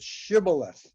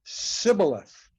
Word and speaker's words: shibboleth: from the victorious side would ask each of them to pronounce the word shibboleth, which means in Hebrew the top of a stalk of wheat. And they couldn't do it. They would say sibboleth instead of shibboleth.